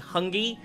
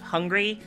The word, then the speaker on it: Hungy: to my attention that it's actually Hungy instead of Hungry, and I'm really sorry, but you're fucking awesome for sticking with me through me mispronouncing your name for so long.